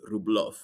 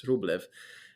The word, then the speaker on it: Rublev: I know that um we should pronounce his name rublo um but alas everyone knows him as as rublev um so just just